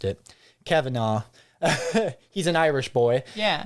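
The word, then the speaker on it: Cavanagh: uh it was published and developed by Terry COV I can't believe I just mispronounced it Kavanaugh he's an Irish boy yeah and uh uh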